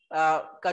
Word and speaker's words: coup: यार कू है ये, इसे कू कहते हैं, कू, COUP, कू। स्पेलिंग में पी आता है लेकिन बोलते कू है।